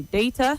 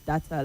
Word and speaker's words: data: You say data, not data, like you said.